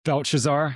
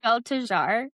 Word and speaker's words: Belteshazzar: Belshazzar. Really? I feel like there's another syllable in there. To Daniel, they named Belteshazzar.